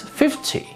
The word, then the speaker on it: fifty: For example, the key here is the stress 50, 15.